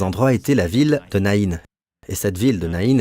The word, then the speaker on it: Naïn: était la ville de Naïn. Et cette ville de Naïn est citée dans l'Évangile selon saint Luc. Dans votre Bible, c'est la ville de Naïn, mais les Hébreux prononcent Naïm, avec un M.